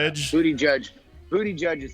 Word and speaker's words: Buttigieg: I like that butt egg guy, however you say his name, Buttigieg. How do you say it? I like to refer to him as Booty Judge. But I believe more correctly it is Booty Judge.